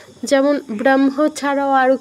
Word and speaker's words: ব্রহ্ম: হওয়া তো উচিত ছিল ব্রহ্ম, ব্রহ্ম, কারণ আগে হ আছে, তো আমার হটা আগে উচ্চারণ করা উচিত ছিল, মটা পরে। কিন্তু ওই যে নিয়মটা বললাম, ম একটা অনুনাসিক ধ্বনি, এটা হয়ের সাথে যুক্ত হয়েছে, তাই আমার মটা আগে উচ্চারণ করতে হবে, হটা পরে উচ্চারণ করতে হবে।